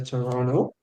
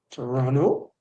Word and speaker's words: Toronto: so Canadian a say Toronto Toronto Toronto you don't pronounce the T at the End Toronto yep yeah if